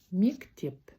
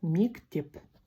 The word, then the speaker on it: мектеп: Сегодня мы будем запоминать такое слово, как мектеп. Мектеп – это школа.